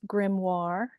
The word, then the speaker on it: grimoire: screen if you're uncertain about this word it's pronounced grimoire and if you look it up in the